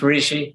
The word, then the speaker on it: Rishi: Yeah, it's Rishi.